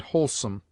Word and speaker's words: wholesome: In whore only, and sometimes in wholesome, wh is sounded like simple h.